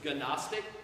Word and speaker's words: Gnostic: for to know and has a silent G so it's Gnostic just like we have